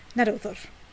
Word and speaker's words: Naddoðr: Old Icelandic is a protonically stressed language, like nearly all Germanic languages. Go on, say it again. Naddoðr.